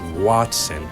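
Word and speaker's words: Wattson: just realized now that I said his name wrong it's Watson what a what a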